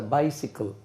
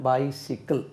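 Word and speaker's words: bicycle: ஹீ ஹேஸ் அ பென், ஹீ ஹேஸ் a book, he ஹேஸ் அ கார், ஹீ ஹேஸ் a bike, he ஹேஸ் அ பைசிக்கிள். அது எப்படி உச்சரிக்கணும்? பைசிக்கிள், பைசைக்கிள் சொல்லக்கூடாது. ஹீ ஹேஸ் அ பைசிக்கிள்.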